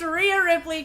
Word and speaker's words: Rhea Ripley: Peacock says, Vivian, I swear, full God, if you pull a Rhea Ripley. I know how to say her name, okay? I know how to say her name. It's Rhea Ripley.